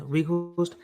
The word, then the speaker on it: Weghorst: Surprisingly, I thought Konate would come in because of the physicality of how do you pronounce it, Evan? Weghorst? Yeah, you had it. Yeah. Yeah, Weghorst.